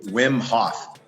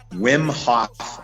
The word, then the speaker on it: Wim Hof: was his first name wim hof I believe is how you pronounce it wim so like WYM something like that so I don't know